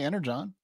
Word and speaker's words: Energon: If you watch the Transformers films or movies and cartoons, you know they say Energon. They just spell it wrong to mess you up.